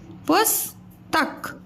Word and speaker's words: पुस्तक: मक्खी, म का खी है ना, इनको एक साथ पढ़ते हैं, मक्खी, पुस पुस्तक पुस्तक। अब स के उच्चारण में कम समय लग रहा है, पुस्तक।